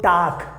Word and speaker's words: Tag: So this is, you have to keep in mind, and just keep in mind this G will be pronounced like a K, so Tag.